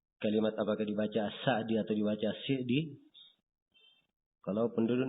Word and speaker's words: As-Sa'di: Di fathah atau di kasrah? Kata beliau As-Sa'di yang benarnya di kasrah. Terus saya tanyakan, ada yang membaca Sa'di? Kata beliau itu keliru.